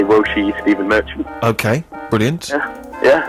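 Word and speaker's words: 我是: say like I am Steven Merchant you say woshi Steven Merchant okay brilliant yeah what was it again uh well you could say wosi I'm just going to write that phonetically woshi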